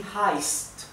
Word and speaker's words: heißt: La SZ se pronuncia como una S suave, ¿bien? Y también la SZ indica que la vocal anterior se pronuncia un poco más larga, así que es wie heißt du, ¿bien?